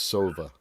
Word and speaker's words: Sova: It's just like Nova, but with an S. It's Sova.